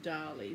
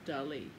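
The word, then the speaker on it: Dalí: I may at times lapse into calling him Dali because from a very young age when I first saw one of his paintings I've always thought of him as Dali rather than Dali which is the correct pronunciation so forgive me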